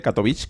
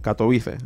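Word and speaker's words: Katowice: habéis visto el de catovic catovic catovic Como cada uno lo dice una manera yo katovice lo podemos decir así pronunciado y Bueno la verdad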